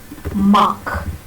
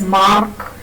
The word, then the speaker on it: mark: The r sound is never pronounced before a consonant. So, you will not hear teachers pronounce it as mark.